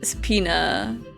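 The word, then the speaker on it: subpoena: heart as all Heavenly Angels be sub sap subpena that's how it's usually pronounced those are two different pronunciations five bucks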